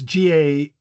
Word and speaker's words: galabia: And then it can be also spelled Jalabia because the G is sometimes pronounced, the G is pronounced J in most Arabic.